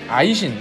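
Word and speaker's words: Aisin: 검색합니다 이 나라 이름이 금 이였고 여 징어 발음으로는 아이신 이었죠 고려시대 때도 여진족 인 금나라를 세운 적이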